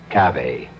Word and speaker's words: cave: cave forlorn for myself I equate cave with the Latin word spelled the same way C A but pronounced cave it means beware our cast included Marian